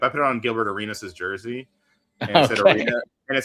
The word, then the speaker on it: Arenas: but it's just because Arenas rhymes with arena, and I thought that was funny.